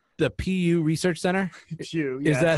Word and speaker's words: Pew: PU, the PU Research Center. Pew. Yes. Is that how it's pronounced?